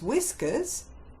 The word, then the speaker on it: whiskers: In his whiskers, W, silent H, I, S, K, as in flower, S.